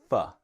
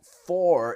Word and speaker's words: for: Now, for can be fa. When we speak a little quickly, it can be fa. Now, for is the strong pronunciation of for, with this strong or sound, right? Fa is the weak pronunciation.